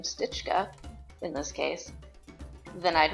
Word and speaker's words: stička: Well, in Czech, if you have a C with this hat check above it, it makes the ch sound. So I said, I wonder if stička is actually pronounced with S-T-I-C with the hat check, K-A.